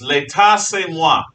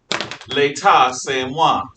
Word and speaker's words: L'État c'est moi: Louis's most famous quote is "L'État c'est moi." L'État c'est moi. That's spelled L'Etat space C''est space MOI. L'État c'est moi.